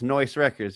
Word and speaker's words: Noise Records: Oh, let's talk a little bit about I think it's Noise Records. That's correct. You said it right. Sometimes people don't get it right, but it's Noise Records.